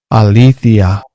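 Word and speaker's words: ἀλήθεια: bueno justicia es esta adiquía y verdad se pronuncia de esta Alicia entonces Bueno vamos a ver aquí como aplica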